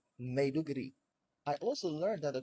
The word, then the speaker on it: Maiduguri: I learned that it's not Bonu, it's Borno, and I also learned it's not Maiduguri, it's Maiduguri.